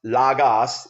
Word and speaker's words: logos: Hence the word logos, which is pronounced lagos, L-A-W-G-A-H-S.